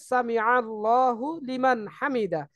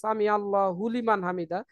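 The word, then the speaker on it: سمع الله لمن حمده: উপরে আমার তাসদিদ কই লামের উপরে তো তাসদিদ নেই তো আমি কেন আমি হুলিমান বলবো এটা হবে হচ্ছে সামি আল্লাহু লিমান হামিদা তো আমরা একত্রে বলার সময় আমরা অনেকে মনে করি যে হুজুর হয়তো এটাই বলছে সামি আল্লাহ হুলিমান হামিদা হুলিমান বলে না হুজুররা সবসময় এভাবেই বলে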